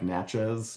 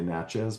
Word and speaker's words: Natchez: And at that point, he runs away again, runs to the Natchez people, or it's spelled like Natchez, Mississippi. Modern Americans often say Natchez, but they pronounce it Natchez.